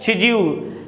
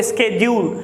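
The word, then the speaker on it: schedule: शेड्यूल। British people pronounce, जो British वाले होते हैं इसको शेड्यूल पढ़ते हैं, वो अमेरिकन वाले जो बोलते हैं वो स्केड्यूल। इट्स अप टू यू, आप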